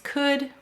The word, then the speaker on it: could: Notice OU is saying its broad sound before a silent L, like in walk, talk, and chalk.